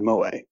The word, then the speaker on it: moe: them are like straight Mo shows but a couple of others to pronounce it correctly and not to pronounce it like it's the barman in The Simpsons is uh kind of